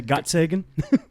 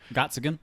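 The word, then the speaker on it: Gottsagen: Sagan got Sagan got it's spelled like Carl Sagan right G OTT so I'm gonna say got Sagan gots again gots again maybe yeah who plays Zack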